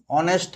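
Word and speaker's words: honest: এন হি এান অনেস্ট ম্যান কারণ এখানে যে এইচটা আছে এই এইচটা উচ্চারণ হবে না তাহলে ভাওয়েলের আগে এন হবে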